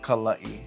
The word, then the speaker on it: Kala'i: Kala'i.